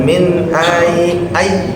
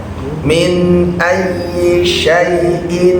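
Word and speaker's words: أَيِّ: Berikutnya min ay ada tasdid ya jangan min a ay a tasdid langsung min ayyaiin khalaqoh minimq tapi bukan digunahkan min ayyi ayyisya jangan ayi ayyisya coba Coba dua t minyaiin khalaq.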